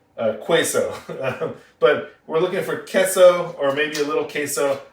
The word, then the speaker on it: queso: It is spelled like that way, and it is pronounced queso. Now, you'll most commonly hear it, at least in these parts, queso.